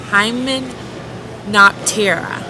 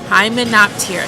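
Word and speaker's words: Hymenoptera: ants bees and wasps the taxonomic name is Hyman not Terra hi monopt here so let's spell that it's h-y-m-e-n-o-p-t-e-r-a and the example that I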